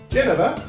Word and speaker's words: Genever: We're starting with the Genever, or in my case, Jennifer. That's how you say her name.